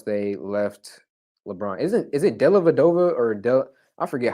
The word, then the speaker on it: Dellavedova: Is it Dellavedova or I forget how to pronounce his name. Dellavedova.